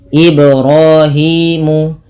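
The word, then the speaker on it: إِبْرَاهِيمُ: ia ada bacaan Qalqalah ibrahimu ibrahimu ut tidak dibaca dengan memutus huruf bnya misalkan IB R dengan menambahkan Hamzah tidak tapi dia mengalir saja untuk qalqalahnya sehingga pada lafal ba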